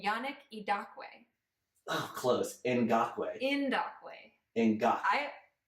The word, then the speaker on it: Ngakoue: yeah in doc way is it spelled like it sounds and GA k o ue o in God blue it is not spelled how it sounds with clays Campbell and